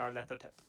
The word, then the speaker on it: Nyarlathotep: Nyarlathotep, the crawling chaos from H.P. Creeping Lovecraft chaos. lore. Mm-hmm. Nyarlathotep. Oh yeah, that's how you pronounce it.